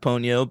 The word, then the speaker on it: Ponyo: it's it's pronounced Ponyo, but I yeah, thought that.